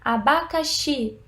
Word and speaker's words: abacaxi: separadas veja bem abacaxi quando você pronuncia abacaxi qual é a sílaba com mais intensidade abacaxi é a última sílaba não é oxe última